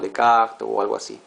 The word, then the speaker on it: Descartes: Creo que se dice algo así como de cactés le voy a decir descartes.